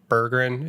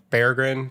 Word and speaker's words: Berggren: have to retrain our brains and stop saying Bergen and start saying bear grin because one uh that is the that is